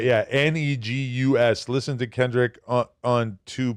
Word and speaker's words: Negus: Okay, and then about the pronunciation. Right, yeah. Negus.